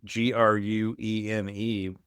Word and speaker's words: Gruene: But yeah, this was what I was alluding to, speaking of mispronunciation. So Gruene, you could mispronounce that, but you nailed it, Graham.